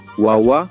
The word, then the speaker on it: wawa: Les mots quechua sont accentués sur l'avant-dernière syllabe. Par exemple, nina qui signifie feu, wawa, bébé, yaku, eau.